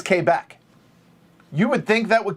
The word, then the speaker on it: Quebec: all that when you get to q it's k back you would think that would confuse people for